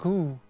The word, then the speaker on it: Sommereux: In French, it's pronounced as so-meh-akru.